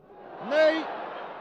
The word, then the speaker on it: Ney: Cela s'écrit comme notre maréchal, Ney, mais ça se prononce Ney, Ney, que voici sur votre